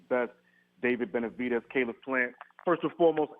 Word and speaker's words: Benavidez: Twitter sphere um there's a big fight David benavidez that's how you say it and my man